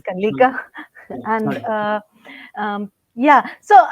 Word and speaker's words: Kalika: take this forward so my name's Kika it's pronounced as Kika and uh um yeah